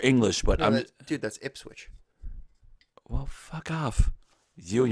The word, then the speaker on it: Ipswich: It kind of sounds like it, but it doesn't sound like proper English, but No, dude, that's Ipswich.